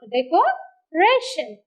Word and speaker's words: decoration: Decoration. Decoration. So, second syllable from the last. So, Re takes the syllable, stressed syllable.